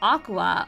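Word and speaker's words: Aqours: Oh, of course it's pronounced Aqua.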